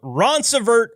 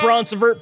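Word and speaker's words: Ronceverte: And finally, Lance Hammonds, van OTR driver, and I looked up how to pronounce this one, from Roncevert, West Virginia. Thanks, Ron. Or Roncevert. Thanks, Roncevert, for giving us Lance.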